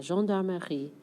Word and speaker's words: gendarmerie: Eh, this one's a little more "meuh" than I pronounced initially. Désolée. La...gen..dar..me...rie. La gendarmerie.